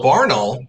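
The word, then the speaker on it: Barnaul: just tears me away yeah um you know barnall came out with the that's how you pronounce it the imported steel case uh russian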